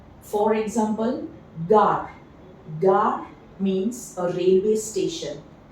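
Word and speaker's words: gare: Okay, moving forward, the second consonant, which is a bit different than that in English, when G combines with A, O or U, it is pronounced as G in go.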